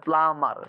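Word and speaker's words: plumber: silent letter of দা of eater in দা প্লামার তাহলে এখানে কি বলতো সাইলেন্ট অবশ্য অবশ্যই এম এর পরে বি আসলে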